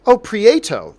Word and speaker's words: Prieto: drive by the way my last name is pronounced pre 800 Prieto there you go okay